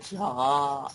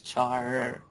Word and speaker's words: Charr: You said Charr. It's Charr. Fine.